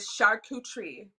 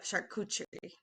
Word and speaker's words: charcuterie: actually how you pronounce So, it. It's charcuterie. yeah, charcuterie.